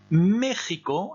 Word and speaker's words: México: Alors, Mexico, attention, le X se prononce comme ça, mais uniquement pour ce qui concerne le Mexique.